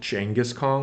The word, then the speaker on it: Genghis Khan: I do like that they pronounce it Genghis Khan, which is closer to the actual pronunciation, I believe. Yes, it was. It's sort of a soft G.